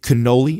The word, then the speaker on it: Canole: This was behind the scenes talking to, is it Canole? Is that how you say it? Yeah, Canole is his last name.